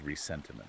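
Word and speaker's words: ressentiment: specific concept which is resentiment and that's spelled with an s in the middle right from the French because it's not just the standard English word resentment.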